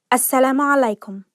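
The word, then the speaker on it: السلام عليكم: the top 25 arabic phrases so let's begin assalamualaikum hello assalamu alaikum hello so this is the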